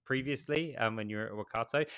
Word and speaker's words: Workato: when you were at Wakato. Is it pronounced Wakato or Wakatu, by the way? Just I've heard it all. I think people say Workatu. It's actually Workato.